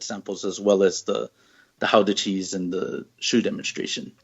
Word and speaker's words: Gouda: And then also there, they did a demonstration of, it's actually pronounced Gouda cheese. I always thought it was Gouda, but they pronounce it Gouda.